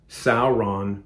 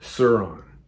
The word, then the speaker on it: Sauron: know a lot of people used to call sauron saron kirathungal the tower of kirithungal was called sirathungal